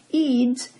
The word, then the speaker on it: Eads: Eads, it's spelled E-A-D-S, news applications developer for NPR Visuals, worked on a team of designers and developers to meet the project's technical needs.